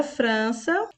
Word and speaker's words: França: nós temos França e a palavra França é uma palavra paroxítona porque a sílaba mais forte é a penúltima o Fran e em seguida nós